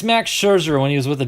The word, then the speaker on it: Scherzer: hard to beat max i'm gonna it's max scherzer when he was with the d-backs but i was watching papaji the other night he always says max sure that's how he pronounces him max sure boom rookie card